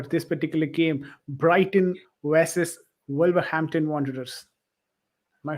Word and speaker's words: Wolverhampton Wanderers: Brighton versus Wolverhampton Wanderers. Am I saying it right? Yeah, Wolverhampton Wanderers.